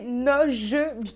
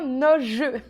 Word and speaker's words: Noje: J'ai le petit fascicule là avec vraiment tout sur la marque et il y a bien précisé Noj Beauty. Donc je me suis trompée, ça se prononce bien Noj.